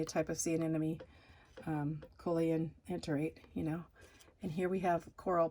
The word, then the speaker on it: coelenterate: have that, basically have that, what's called the coelenterates, hollow intestines.